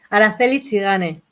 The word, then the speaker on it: Araceli Tzigane: Pronuncia tu nombre. Que lo diga mi nombre. Juan Antonio Torres. Araceli Zigane.